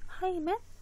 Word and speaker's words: hymen: 하이맨? 하이맨. 농담이 아닌. 하이맨 마이맨인데 하이맨이에요. 발음이 하이맨이에요.